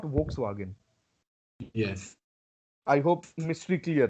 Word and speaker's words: Volkswagen: So suppose you have a word where V and O is there. How would you read this? Fo. Fo. No, fur nahi liya. Fur. Okay. Fa. Fo. Fur, Fo. not fur. Fur. Fo. Fo. And so that's why Volkswagen and not Volkswagen.